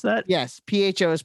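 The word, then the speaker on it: phở: Yes, PHO is pronounced pho.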